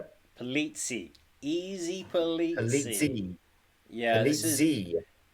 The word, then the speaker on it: Polizzi: I do love it when a nickname lets you know how to pronounce the name because of rhyme scheme.